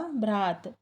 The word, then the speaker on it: भ्रात: क्या लिखा है? भ्रात, भ्रात, भा में रा लगा हुआ है और आ की मात्रा है और ता में कुछ नहीं है तो होगा भ्रात।